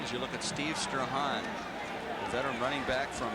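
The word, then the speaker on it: Strachan: As you look at Steve Strahan, the veteran running back from Boston College, leaving the field, a fine special teams player. That's right, folks. You pronounce it Strahan.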